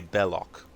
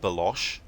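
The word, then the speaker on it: Belloq: Lost Ark by Renee bellock and in that movie um uh Indiana Jones's um friend Salah he basically um mispronounces burlock's name he calls it balosh and that's actually a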